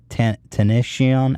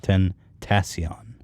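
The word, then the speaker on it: XXXTentacion: XXX Tenacion. How do you say that, Ian? Tentacion, I believe. Tentacion.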